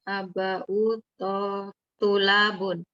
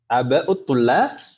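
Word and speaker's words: آباءُ الطلابِ: Ulaika aba'u tulabun. Tulabun, yakin? Tulabi. Ulaikanya betul. Tapi cara bacanya aba'ut Tulabi. Ulabi, Om ya. Tidak tanwin. Iya, Pertama tidak tanwin karena ada al.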